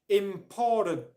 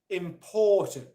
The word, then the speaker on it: important: it's the words important I often hear this words being pronounced with the R sound in it so people will pronounce it important important important or important important okay the R sound in this word is not pronounced important important important ok